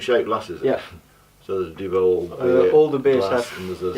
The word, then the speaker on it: Duvel: Like you pronounce it Duvel, we pronounce it Duvel.